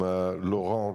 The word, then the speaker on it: Laurent: I am Lauron, as in for people who can't pronounce calls you.